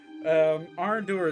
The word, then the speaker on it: Arandur: Arandur is spelled Aranduhr.